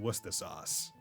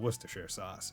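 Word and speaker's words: Worcestershire: I mean it the I don't think I've ever met anyone call it wora sauce like I've only ever seen people call it werer sauce but I'm also from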